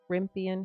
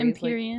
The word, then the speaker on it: Empyrean: I think it's a good like balance between is it Rimpian? How do you say it? The Fourth Wing series. Empyrean.